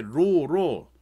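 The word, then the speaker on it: ρ: 그래서 저항 R이라는 놈은 단면적에 반비례하고 길이에 비례하고 그 다음에 비례상수 로 쓴다라고 로라고 읽으면 돼. RHO로 이렇게 읽으면 돼요.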